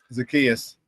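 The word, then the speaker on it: Zaccheaus: Give me the pronunciation. Oland Zakayas. Zakius.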